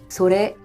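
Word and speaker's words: それ: 또한 제 가 발음 해 보니 " 코레 ", " 소레 ", " 아레 " 는 끝 부분 이 높게 발음 됩니다 .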